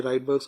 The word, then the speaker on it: Rydberg's: ना, राइडबर्ग्स कांस्टेंट भी कहते हैं, बहरहाल ये राइडबर्ग्स कांस्टेंट है, सही प्रोनाउंसिएशन।